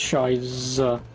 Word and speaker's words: Scheiße: It's not a B. It's a double S. You sure about that? Because that's a B. B and the means SS. So Z. That's why it's pronounced Shiza.